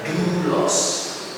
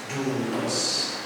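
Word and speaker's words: δοῦλος: eh dos hamba Budha ou ya ini u jadi bacanya dulos dulos gu ya kemudian yang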